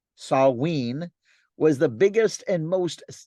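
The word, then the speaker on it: Samhain: festival observed at this time called Sam Haan pronounced saween was the biggest and most significant holiday of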